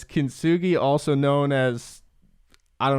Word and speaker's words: Kintsugi: I don't want to pronounce it wrong. It's Kintsugi. Kintsugi.